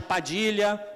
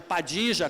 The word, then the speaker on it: Padilha: Mas você pode chamar de Padilha, pode chamar de Padija, como se fala no Uruguai e na Argentina, aqui por influência provavelmente